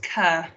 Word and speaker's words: Carr: just to clarify my my surname is pronounced cur i'm sorry thank you